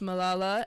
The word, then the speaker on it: Malala: Children's rights activist Malala and of Pakistan. I feel like I'm pronouncing her name so wrong.